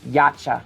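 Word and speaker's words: Yautja: going back to the, say it again, I can never pronounce it. Laksha? Yacha. Gotcha? Yacha.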